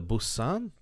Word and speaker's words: Boatswain: The Boatswain, Bosun.